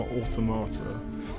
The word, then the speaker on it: Automata: automata did and I'm pretty certain to pronounced automata because I speak English I just I love